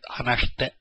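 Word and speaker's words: 話して: The I in this shite is silent, hanashite.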